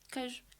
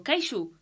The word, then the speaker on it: queijo: Eu disse, queijo. E ele, queixo? Eu, não, é queijo.